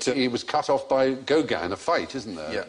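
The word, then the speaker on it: Gauguin: was cut off by gogan in a fight isn't there yeah oh it's not pronounced go again he looks like he'd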